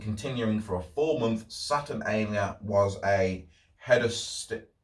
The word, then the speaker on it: Saturnalia: in with it all saturnalia i think that's how you pronounce it saturn a and then l i a so saturnalia that's what i'm going for so in rome where